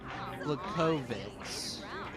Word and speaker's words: Blachowicz: Pronounce the V as a, or W as a V. So, Blachowicz.